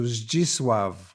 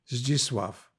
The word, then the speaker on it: Zdzisław: So the name was changed to Zdzisław, Z-D-Z-I-S-L-A-W, Zdzisław. And then when I came back after the war, I was rescued by my parents, the name stayed Zdzisław in first grade and then in third grade in Poland.